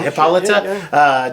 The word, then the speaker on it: Hippolyta: Yeah, Hippolyta.